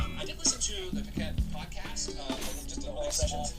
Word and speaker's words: Paquette: Yes, Paquette.